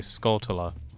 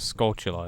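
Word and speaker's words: Skulltula: it weird when um youtubers say scotland instead of sculptula it's like it's obvious it's like tarantula you pronounce it like tarantula you don't say tarantella i mean i guess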